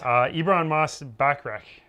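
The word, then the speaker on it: Ebon Moss-Bachrach: Ibran Moss-Bachrach, I think I'm saying it right.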